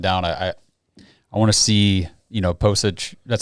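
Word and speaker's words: Pocic: After Nick Harris went down, I want to see, Postage.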